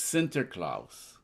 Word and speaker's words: Sinterklaas: It's Sinterklaas. Sinter is like... It's from the Dutch.